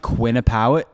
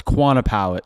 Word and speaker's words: Quantipowitt: I thought you said Quinnipiac. It's Quantipowitt. So Quantipowitt. No, I was wrong. You weren't right. I said it wrong. I didn't know it was Quantipowitt. I thought it was Quinnipiac. Well, Sorry. I missed the double N. I had an A instead of an I, but pretty close.